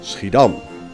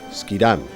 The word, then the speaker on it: Schiedam: name to the drink sridham or as the english pronounce it skidam this relative small town